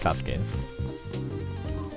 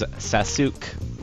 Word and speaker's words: Sasuke: So here's Sasuke's.